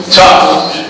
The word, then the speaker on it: tough: Tough. Like T-U-F-F. Tough. It's spelled T-O-U-G-H, but it's pronounced like T-U-F-F.